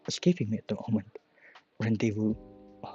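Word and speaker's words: rendezvous: Rendevu rendevu. That is silent.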